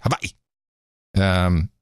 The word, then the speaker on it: Hawaii: volcano is and Hawaii you got to pronounce it correctly Hawaii there's not a lot